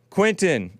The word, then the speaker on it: Quintin: Quintin, am I pronouncing it right?